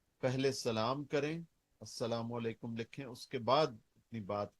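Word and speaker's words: السلام عليكم: ऊपर इस्लाम हो क्योंकि आप बीच में लाम डालना भूल जाते हैं सलाम के स्पेलिंग हैं अलिफ लाम सीन लाम अलिफ मीम अल सलाम वालेकुम उसको जब हम लाम को साइलेंट कर देते हैं तो वह अस्सलाम वालेकुम हो जाता है लेकिन लाम वो अपनी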